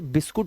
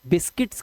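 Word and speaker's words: biscuit: इसका जो अनुवाद होता है, इसका जो प्रोनंसिएशन होता है, वह ई होता है। ई बिस्किट। इसीलिए पढ़े लिखे बने। बिस्किट्स चाय के साथ बिस्किट्स खाते हो आप। बिस्कुट नहीं खाते भाई। ठीक है? इसलिए यहां पर इसको पढ़ना है। बिस्किट। यह इ है। बिस्किट। बिस्कुट नहीं।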